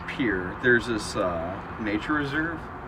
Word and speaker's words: Pierre: anywho you laying there it's not pronounced Pierre it's pure there's this uh Nature